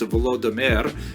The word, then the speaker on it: Volodymyr: What's especially important in its history is the conversion of one of its leaders, Volodymyr, pronounced in Russian Vladimir, shown here in a statue overlooking the Dnipro River that runs through the middle of Kiev.